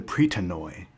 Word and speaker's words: Pritanoi: It's actually the Pritanoi, as the way I was saying it would be the Greek pronunciation.